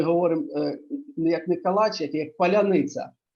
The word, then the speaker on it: паляниця: Зараз ми говоримо як не калач, як паляниця. А Так. паляниця, росіяни не вимовляють це слово, і одразу можна зрозуміти, чи він українець, чи не українець.